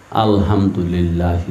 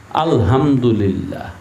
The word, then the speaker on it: আলহামদুলিল্লাহ: আলহামদুলিল্লাহ আলহামদুলিল্লাহ আল্লাহ এই শব্দটার মধ্যে টান আছে না নাই আছে এক আলিফ টান এই টান না দিলে